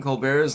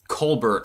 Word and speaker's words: Colbert: Stephen Colbert's last name is actually pronounced Colbert.